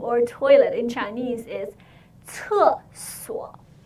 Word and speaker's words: 厕所: So it's 4 3 so it's 4 4 no sorry no 厕所 no 厕所 Let's continue. Can you feel the air come out of your mouth as you say 厕, right?